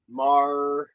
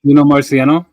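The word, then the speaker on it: Morricone: Well, this is music inspired by Eno Marciano. Am I saying that right? I'm not saying it right. Marciano? Yes. Yeah, thank you.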